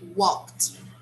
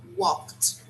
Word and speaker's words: walked: spell like this okay but we do not pronounce the way we spell we say walked walked so yesterday i walked